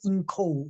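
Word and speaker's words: 营口: 뭐 이응찬 등 세례를 받은 곳은 중국의 인커우, 요즘은 뭐 중국 인명 지명 말할 때 중국 발음으로 이렇게 해야죠. 영군데 요즘은 인커우라고 나옵니다.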